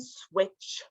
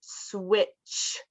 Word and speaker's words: switch: done uh Swift and switch so it's pronounced Swift with that ft Swift and switch we don't really pronounce the T in the second one just the ch ch sound so Swift and switch uh Swift means to